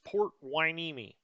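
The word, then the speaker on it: Port Hueneme: i picked port waineeni that is how you pronounce it i know it's a running joke how i pronounce things sometimes but that is port wineme uh okay so it's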